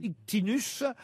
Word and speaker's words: Ictinos: Ça s'écrit comment, Ictinos? Scientifique, non, le mot serait un peu fort. C'est un peu charlatan? Alors, Grec. Ictinos s'écrit I-C-T-I-N-O-S. Ouais. Parfois, on peut aussi le lire Ictinus.